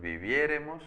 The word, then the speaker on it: viviéremos: Y vivir, yo viviere, tú vivieres, él viviere, nosotros viviéremos, acento en la E.